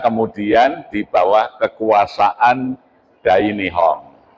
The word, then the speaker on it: Nippon: Kita kemudian di bawah kekuasaan Dai Nihong. Ya, tulisannya Dai Nippon. Membacanya Dai Nihong.